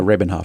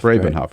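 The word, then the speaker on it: Rabin-Havt: David and um Ari Robin Hof from I pronounce that correctly yeah rabenhof rabenhof rabenhof for Media Matters a new book out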